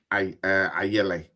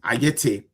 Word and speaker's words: Ayete: I sat in for Kiki, Mami Ifwa Ayele. Yes, Ayete, pardon me, Ayete.